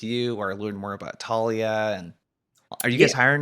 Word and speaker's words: Taulia: how many people just kind of mess up pronouncing the name in itself but yeah it's uh it's Talia um you can find me on LinkedIn Eric